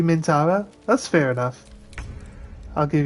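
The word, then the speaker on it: Minthara: Mintara. Mintara. There's But there's a H in there, isn't there? We don't pronounce the H.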